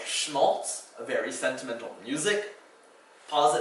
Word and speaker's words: Schmaltz: The sh sound in German, one of the first consonant combinations you might have encountered, is spelled with an SCH.